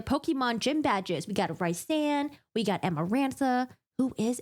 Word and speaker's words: Rhysand: In my head, I pronounce it Rhysand, and then I found out that it's pronounced Rhysand, and it sounds Rhysand.